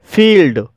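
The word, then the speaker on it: field: फील्ड, फील्ड शब्द में भी दो कॉन्सोनेंट के बीच आईई आया है और यहाँ पर आईई का उच्चारण ई हुआ है, इसलिए इसे फील्ड बोला जाता है, और फील्ड मिस होता है मैदान।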